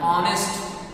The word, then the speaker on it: honest: Honest. In the sentence, H is silent when the word honest is pronounced.